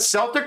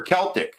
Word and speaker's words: Celtic: Is that Celtic or Celtic? I'm going to say it wrong but I I we say Celtic here but I'm sure it's Celtic.